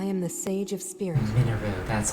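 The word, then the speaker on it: Mineru: is minu I am the sage of spirits minu that's how you pronounce it I am happy you have arrived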